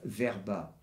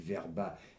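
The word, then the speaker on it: Vrba: Et nous avons tué le témoin numéro 1, le meilleur témoin possible, et qui était Rudolf Werba. Ça s'écrit V-R-B-A.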